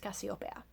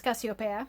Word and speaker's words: Casiopea: But given the spelling and the fact that this book takes place in Mexico, I'm going to make the assumption that her name is pronounced Cassiopeia. So the story follows Cassiopeia, who is a young